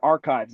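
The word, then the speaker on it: arXiv: I posted a website here, Archives. It's not spelled like that. It's ARIXV. I posted that to this channel.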